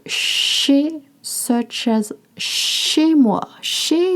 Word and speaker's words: chez: Chez is spelled C-H-E-Z. You can look up the transcript. Chez. It's not chaise. It's chez.